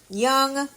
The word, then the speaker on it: Jung: runs so here we go mid June for Jung young how do you say it Leonard young young